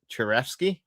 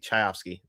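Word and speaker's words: Chayefsky: Patty Churfski, the the writer of that movie, Chioski. Chaioski. That's it.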